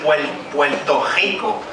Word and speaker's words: Puerto Rico: For instance, we, instead of saying the R, we say it's like the German CH. Anybody knows about Bach, the musician? Bach. So instead of saying Puerto Rico, we say Puerto Rico. Okay, so if the R is in the middle, it's pronounced like an L.